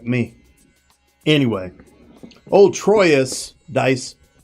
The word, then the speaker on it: Troyes: Anyway, old Troyes dice. This, by the way, is pronounced something like trois, right?